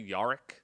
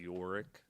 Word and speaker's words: Yorick: You guys both say Yarik. Yeah. But actually we say Yorick.